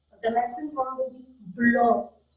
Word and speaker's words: blanc: So the masculine form will be blanc. Blanc. It is end with C, so C is not to be pronounced, and it's another sound.